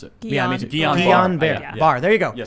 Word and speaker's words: Guillain-Barré: I always mispronounce it. Yeah, me too. Guillain-Barré.